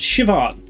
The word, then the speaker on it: Siobhan: Oh, Siobhan. It's pronounced Siobhan.